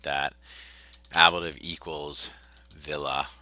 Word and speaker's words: villa: like that ablative equals villa and that's a long a there I don't know if